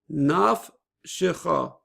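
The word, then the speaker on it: נפשך: So it would be naf, naf, and the second syllable has the bump, she. Naf shecha, naf shecha, and that would be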